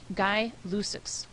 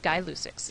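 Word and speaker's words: Gay-Lussac: pronounce this gas law it's actually guy luix okay guix is how you pronounce it so um this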